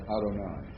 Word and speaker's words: Adonai: when we're giving it our Hebrew pronunciation we'll pronounce that Adonai all right uh the next word um MIT